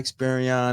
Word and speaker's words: Experian: and I'm looking and it's Experian, not Experian. That's Omarion. I know you listen to Omarion, my brother, but your icebox used to be and all that, brother. Say it right, Experian.